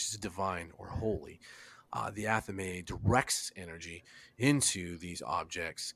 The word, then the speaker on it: athame: sorry, I Athame. didn't know how to pronounce it, and I did not want I'm to.